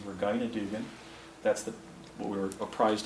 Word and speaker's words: Regina Dugan: Here's Regina, or also known as, actually I think the correct pronunciation is Regina Dugan.